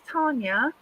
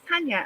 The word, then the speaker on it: Tanya: Some people say my name's Tanya, and it's not because it's got no R in it. But my name is Tanya.